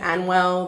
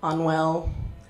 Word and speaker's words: Anwyl: wrong and it's it's actually a really difficult name it's Welsh but I'm Australian so people often get it wrong so instead of an well they say unwell or animal which is